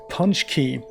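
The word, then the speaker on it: pączki: doughnut which is called they pronounced a punch key and they are amazing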